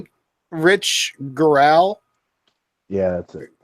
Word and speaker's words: Gural: think Rich Gural. Yeah, that's it. But I think Rich his name is like pronounced girl, but it's Rich Girl. Gural.